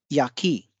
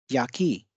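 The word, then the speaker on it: 焼き: तो इस साइन से हम ये डिनोट कर रहे हैं कि या पे बल कम होगा, की पे बल अधिक होगा। यानी कि इस शब्द का उच्चारण होगा याकी, याकी।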